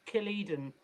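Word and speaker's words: Killedan: effort trust me uh it's killed in as how you pronounce it and um so i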